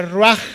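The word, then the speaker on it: רוח: Y hay otra palabra en el hebreo que se escribe ruach, con che al final, que se pronuncia ruach, porque acuérdate que en el hebreo la che suena como J.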